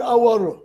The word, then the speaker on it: hour: He waited for an hour. Why now have an hour? Because again, we are concerned with pronunciation. This word starts with a vowel sound.